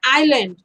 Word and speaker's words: island: have heard the word Island do you know Island yes but here it is written as is land but we never say Islan we say island s is silent you ear is teeny